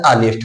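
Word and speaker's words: honest: हो गया व्यंजन, अब प्लस, अब इसका जो उच्चारण हिंदी निकल रहा है वो क्या होता है, आनेस्ट होता है।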